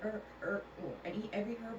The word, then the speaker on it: herb: The H in that word is silent. Herb.